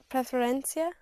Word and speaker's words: preferencia: You push down on the penultimate syllable on the syllable before last.